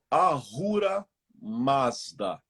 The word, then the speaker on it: Ahura Mazda: Ah, Ahura Mazda.